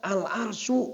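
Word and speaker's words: الْعَرْشُ: Wa fawqa dzalika al-arsyu. Begitu bacanya. Jadi al-arsyunya mubtada. Fawqa dzalika menjadi khobar. Ya. Jadi jangan wa fawqa dzalika al-arsy. Wa fawqa dzalika al-arsyu.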